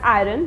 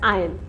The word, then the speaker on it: iron: Usually people call it as iron, but it is not pronounced as iron, it is pronounced as iron. The R word is silent in this word.